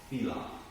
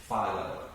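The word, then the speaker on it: FILOT: So a fee in lieu of tax, F-I-L-O-T, also called FILA. Philo. I don't really prefer that pronunciation. I'm more of a FILA guy.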